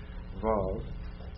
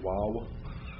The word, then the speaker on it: Vav: Now that's modern Hebrew. He's telling you it's pronounced like a W. That would be the ancient Hebrew way. We're going to pronounce it the modern Hebrew way. Vav. And anyway, didn't it sound weird to say wow? I mean, you know.